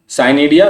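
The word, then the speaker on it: pycnidia: Next इसी तरह से है साइनिडिया। पी साइलेंट है यहाँ बच्चों।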